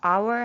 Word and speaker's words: hour: 그런데 H, 사운드, 소리가 나요, 안 나요? 안 나지요? 그래서 H는 소리가 안 나요. 그래서 hour 하면은 그 다음 O가 발음이 나는 거죠.